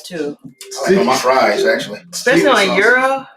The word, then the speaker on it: gyro: for my fries actually euro once and yes that is the proper way to say not gyro that's right that's right i put a g in front of it right because the english